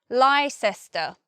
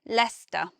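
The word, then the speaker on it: Leicester: look at that word first guess would be lysis tur something like that but actually it's only two syllables and we simply say Lester so it's much easier to pronounce than it is to spell that word next we have Worcester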